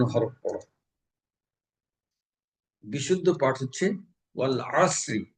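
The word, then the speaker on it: وَالْعَصْرِ: বিশুদ্ধ পাঠ হচ্ছে ওয়াল আসরি, এখানে আইন গলা চেপে আদায় করতে হবে। কিন্তু যদি এখানে আমি গলা চেপে আদায় না করে আমি যদি অল আসরি বলি, তাহলে এখানে আইনের স্থলে হামজার উচ্চারণ বা আলিফের উচ্চারণ হয়ে যাবে। এই ক্ষেত্রে মানে এক হরফের স্থলে অন্য হরফ পড়ায় অর্থের পরিবর্তনে তেলাওয়াত অশুদ্ধ হয়ে নামাজ বাতিল হয়ে যাবে।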